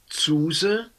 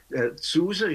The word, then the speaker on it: Zuse: Yeah, this particular drawing machine had the official name Zuse Graphomat Z. Well, I say it in German, but yeah, Zuse, yeah, that cannot be done otherwise, and Graphomat, if you pronounce it English, well, Graphomat, no, graphic machine, Z64.